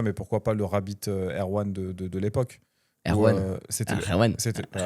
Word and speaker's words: R1: pourquoi pas le Rabbit Air1 de l'époque. Air1. C'était Air1. le R1 du coup si tu prononces à la française, mais c'était boîtier en